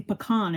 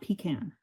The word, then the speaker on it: pecan: I think it's interesting that you're from the South, but you say pecan and not pecan.